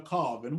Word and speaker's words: Colvin: Now, Judge, is it Colvin or Colvin? Which do you prefer? Either way, but it's pronounced by the family as Colvin.